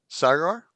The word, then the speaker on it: Sagar: And uh we've got I'm I'm going to say your name wrong, but you're going to correct me. Sagar.